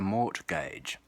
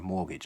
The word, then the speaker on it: mortgage: an overpriced house through something called a mort gauge or mortgage as we say an australian mortgage as